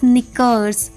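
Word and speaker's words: knickers: के एन आई सी के ई आर एस निकल्स तो ये थे कुछ examples now silent words with letter L rule क्या है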